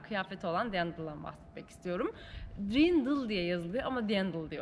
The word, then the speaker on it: Dirndl: Dirndl diye yazılıyor ama Dirndl diye okunuyor.